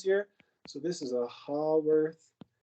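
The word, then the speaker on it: Haworth: so this is a hall worth sometimes people pronounce it hayworth projection but this is a how worth projection okay so if the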